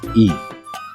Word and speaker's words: y: Kata sambung dan dalam bahasa Spanyol adalah I. Itu ditulis satu huruf aja yaitu huruf Y. Bacaannya I.